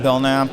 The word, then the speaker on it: Belknap: Yeah, so I'm Belknap, kind of been in the mechanical power transmission. The K is silent, so don't even think about saying the K. Yeah, it's French or something like that.